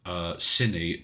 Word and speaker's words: Cine: Cine, pronounced like the beginning of cinnamon.